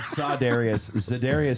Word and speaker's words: Za'Darius: Za'Darius. Whatever his name is. That dude. You flipped the syllables. Did he say Za'Darius? It'd be like Kyler Murray. I said Za'Darius Smith.